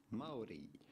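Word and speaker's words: Māori: Well, the natural indigenous way to say it would be Maui.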